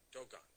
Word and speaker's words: Dogon: Do they pronounce it like that? Dogon. Dogon, okay.